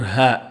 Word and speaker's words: ه: The letter ha. These are its various forms. Looking at it through first, VMA. V. The letter ha is unvoiced, meaning that the vocal cords do not vibrate during its pronunciation.